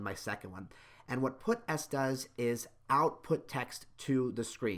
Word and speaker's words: puts: It's something that does something, and it's called puts. Some people also pronounce it put-s, and that S in put-s stands for string.